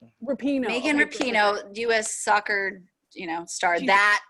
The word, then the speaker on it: Rapinoe: Oh, it's Rapinoe. Okay. Because I always think that they're gonna call her Rupon, and I like Adam Rupon, and it's Rapinoe.